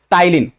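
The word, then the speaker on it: ptyalin: तो ये भी ध्यान रखिएगा पी यहां पे साइलेंट है।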